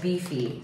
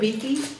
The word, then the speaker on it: BiFi: You pronounce it Bifi? B-I-F-I? Yeah.